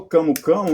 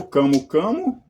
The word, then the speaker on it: camu-camu: Eh, eu falo camo camo, mas é na língua portuguesa pode ser aceita as duas pronúncias, ou camo camo, eh, nazalizado, ou camu também.